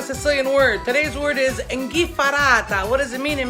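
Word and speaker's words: 'nchiffarata: Those are the three ways you can say it, but in Sicilian, it's inghifarata. I will write it down for you so you know how it's spelled, or at least I try to spell it as close as possible.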